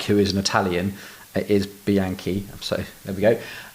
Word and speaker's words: Bianchi: of that bike who is an Italian is Bianchi I'm sorry there we go and pivot Cycles